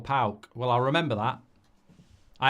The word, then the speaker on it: PAOK: PAOK, that's how you do it. It's PAOK or PAOK.